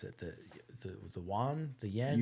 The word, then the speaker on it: yuan: The yuan, the yen? Yuan is how I've heard it.